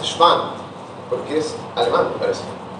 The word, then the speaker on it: Schwann: Pero es Schwann, porque es alemán, me parece, o algo así.